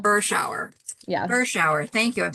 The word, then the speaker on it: Berschauer: Berschauer is how you pronounce it. Shower. So like cold shower. That's how I tell people. Berschauer.